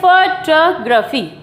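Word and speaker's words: photography: इस तरीके से फोटोग्राफी।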